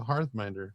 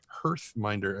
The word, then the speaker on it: Hearthminder: Tawny Bear, there, the Hearthminder, yeah, or Hearthminder, as some people seem to be pronouncing it nowadays.